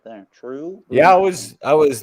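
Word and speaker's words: TRVE: a little portion about true which again it's t-r-v-e but in scotland here the v is pronounced as the letter u the letter u they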